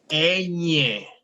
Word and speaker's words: ñ: It's very nasal, the sound of that one, okay? Ñ. N. Ñ. Look at the way my nose contracts when I'm saying the last part. You can see Ñ. N. Ñ. Mhm. So that's another one that doesn't exist in English.